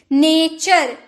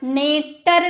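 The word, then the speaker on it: nature: नेचर, नेटर नहीं, नेचर, चर, नेचर, प्रकृति।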